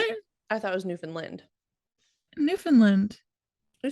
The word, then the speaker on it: Newfoundland: In Newfoundland, keeping cows in your house. What if they're cold? Right? Wait, say that place again. Newfoundland.